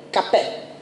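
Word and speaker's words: Capet: Καπέ. Γράφεται με σε, α, πι, ε, τε. Γιατί εμείς τους λέμε καπέτους. Καπέτους, γιατί τους λέμε καπέτους, γιατί στα γαλλικά το τε δεν διαβάζεται.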